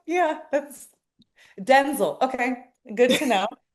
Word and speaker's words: Denzel: this whole time, that it's Denzel, not Denzel. What? Yes, yes, Larissa. I was like, what? I never knew this. Oh my gosh, she's just like, yeah, that's Denzel.